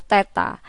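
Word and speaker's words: θ: suhu satuannya Kelvin dimensinya Teta jadi simbol ini membacanya adalah theta alat ukurnya adalah termometer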